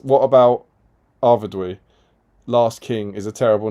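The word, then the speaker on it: Arvedui: Joe Holzman, you wouldn't pronounce the U and I separately, would you? You do in ruin, which is apparently how that sound is pronounced in Arvidui. So it's Dewey.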